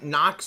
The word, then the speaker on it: Knox: I mean, Nox is the same way as, like, Fort Knox. The K is silent. K before N is silent.